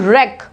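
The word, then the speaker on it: wreck: Next is रैक, ठीक है, W silent है, बोलेंगे हम इसको रैक, रैक।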